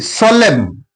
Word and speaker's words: solemn: Similarly, solemn, N is silent here.